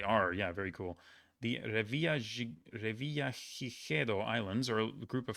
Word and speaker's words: Revillagigedo: The Revillagigedo Islands are a group of 4 volcanic islands belonging to what small Mexican state?